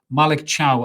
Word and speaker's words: Malick Thiaw: occasion I'm talking about this lad right here Malik Chow as it's pronounced who is a German Defender a right-sided